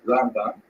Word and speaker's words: Rambam: Rambam is pronounced with the emphasis on the first syllable, Rambam, and Ramban is pronounced with the emphasis on the second syllable, Rambam and Ramban.